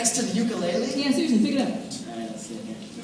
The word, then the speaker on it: ukulele: Not like ukulele. Apparently you're supposed to say ukulele, and like people who are from Hawaii will get really pedantic about it.